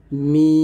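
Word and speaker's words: م: মিম, দুই ঠোঁট মিল করে, অর্থাৎ দুই ঠোঁটের শুকনো অংশ মিল করে মিমটা উচ্চারণ করবেন, মিম।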